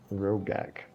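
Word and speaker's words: Roghk: was that guy's name again Brock sorry rogak rogak r-o-g-h-k I'll like this I like to think that V is silent so it's rogak okay silencers all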